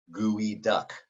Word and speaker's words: geoduck: native american tribe and the way that they pronounced it was guided so over time as words and pronunciation change guide became duck gooey duck now somewhere the chat the spelling of that changed but the pronunciation never followed suit so this is an